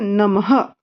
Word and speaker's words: नमः: उसको हिंदी में बोलते हैं नमः। कैसे बोलते हैं? नमः। कैसे बोलते हैं इधर? नमः। ठीक है, तो नमः का बहुत इजी स्पेलिंग है, न, म, ह। दो बिंदु डाल दिए यहाँ पे, नमः।